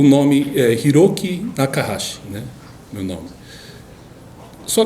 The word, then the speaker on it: Hiroki: E às vezes Hiroki é um nome difícil de pronunciar, pois é feito com H, I, né? Então muita gente lê I. O H na língua japonesa tem um som de R, né?